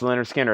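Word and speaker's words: Lynyrd Skynyrd: 1980s Us Indianapolis REO and ex condition and Leonard skinnard is with hyro M Ponte for $50 pronounced Leonard skinnard pronounced Leonard skinnard and that's a final call on that one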